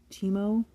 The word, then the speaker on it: Teemo: guy it's t e m o o timu teimo I always say it wrong he always has